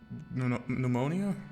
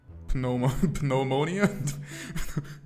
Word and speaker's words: pneumonia: Pneumonia. It sounded like you pronounced the P penmonia.